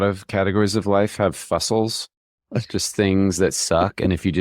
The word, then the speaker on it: Fusel: I feel like a lot of categories of life have fussels, just things that suck.